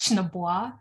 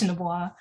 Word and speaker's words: Chinaboa: My last name is actually pronounced Chinaboa. it doesn't look anything like it's pronounced, but yeah, it's pronounced Chinaboa.